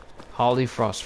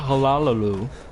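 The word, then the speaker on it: Hollyfrost: Holly Frost Farm. See, that's simple words to say. Holly Frost, not Halalu.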